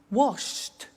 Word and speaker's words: washed: look at that watched danced eliminate the e pronounce the t danced laughed washed and walked okay now the temptation is to